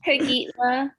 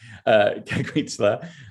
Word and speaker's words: Kaguitia: How do you pronounce it? Kaguitia. Okay. Oh, sorry. I had an I on for some reason I typed an I, Kaguitia. So Kaguitia. Okay, thank you. Kaguitia.